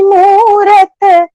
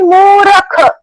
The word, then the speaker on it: मूरत: जैसे और एक भजन है, जय नंद लाला जय जय गोपाला, मोहनी मूरत साई गोपाला, ऐसा भजन है। तो कोई गा रहा है मोहनी मूरख, मोहन मूरख साई गोपाल, अभी साई गोपाला को